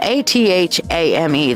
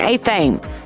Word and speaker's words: athame: energy through many people look at this and it's spelled a-t-h-a-m-e they think oh that's an a thing that's an a thing a thumb a Fame